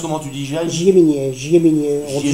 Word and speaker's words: Giai-Miniet: Alors toi tu prononces comment, tu dis Giai? Giéminier, on dit Giéminier, ouais.